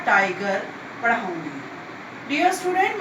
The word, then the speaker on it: Tyger: जब हम इस पोएम को पढ़ते हैं तो सबसे पहले तो देखिए इसमें टाइगर की स्पेलिंग ली गई है TYGER, ठीक है। तो स्पेलिंग ये होने पर भी प्रोनाउंसिएशन हम इसका टाइगर ही करेंगे।